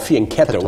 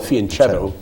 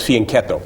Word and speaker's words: fianchetto: It actually is properly called fianchetto. It's an Italian name, but most of us in the United States call it fianchetto because we don't know how to pronounce the CH in Italian, but it's fianchetto.